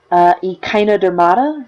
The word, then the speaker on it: Echinodermata: Echinodermata rhymes with Hakuna Matata.